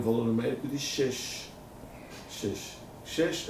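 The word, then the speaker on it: שש: Isso aqui se pronuncia assim. Shesh.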